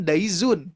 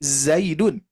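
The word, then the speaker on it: زيد: Ternyata di kitab tersebut menceritakan tentang seseorang yang sedang mencari nama Zaid tapi diucapkan Daizun gitu ya. Nah, seharusnya bukan Daizun tapi Zaidun.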